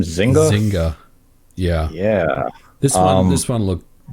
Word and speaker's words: Zynga: How do you pronounce their name? Zynga? Zynga.